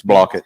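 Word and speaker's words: Blaukat: on with Ben Randy blockett whether you think he's I guess is that how you pronounce his last name is it block or blockett it's blockett Uncle Randy Uncle Randy yeah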